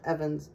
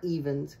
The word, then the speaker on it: Evans: at one time but it was pronounced Evans not evens okay but there are some that pronounce it that way but where it goes